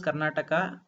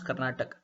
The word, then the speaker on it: Karnataka: in this word also the appropriate thing is Karnataka and you tend to skip the last letter you tend to pronounce Karnataka but these two are